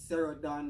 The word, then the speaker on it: Cero Donn: Well, my name is Cero Donn. That's pronounced Cerodonn, and I'm a musician.